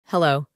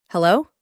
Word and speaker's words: Hello: La H se pronuncia como una J, como por ejemplo en una palabra que todos conocemos. Hello. Hello, muy parecida a la pronunciación de la J.